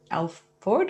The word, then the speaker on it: Alford: Alford or Alfred? Alford. Did I pronounce that right?